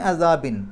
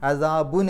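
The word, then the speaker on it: عَذَابٍ: അല വന്നതുകൊണ്ടാണ് തുഞ്ചിക്കും മിൻ അസാബിൻ മിൻ എന്നുള്ളതും ഹർഫ് ജർ ആണ് അതുകൊണ്ടാണ് അസാബുൻ എന്ന് പറയാതെ അസാബിൻ എന്ന് പറഞ്ഞത് മിൻ വന്നതുകൊണ്ടാണ് ഈ അസാബ് എന്നുള്ള പദത്തെ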